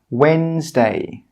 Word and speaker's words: Wednesday: The letter D is normally silent when it comes before N and G. Some common examples of this are Wednesday, grudge, badge.